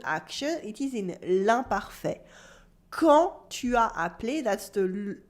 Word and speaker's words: quand: in l'imparfait, especially with quand. Quand means when in French. There's a silent D at the end and the U is silent as well. Quand.